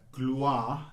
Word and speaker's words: gloire: This is, in poetical terms, gloire, the first syllable, is very strong because it precedes this r sound. And the r sound itself falls away, but is very clear.